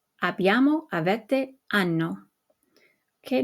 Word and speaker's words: hanno: O, hai, a, abbiamo, avete, hanno. Okay, notice that the H is silent, but we retain it so that you know that it's the conjugated form of avere.